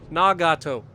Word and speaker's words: Nagato: what I've heard it in Japanese is Nagato it's three separate syllables or like you know